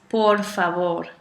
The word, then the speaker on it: por favor: so nueve okay and the most important one that we learned wrong when we first hear the word English is por favor por favor please not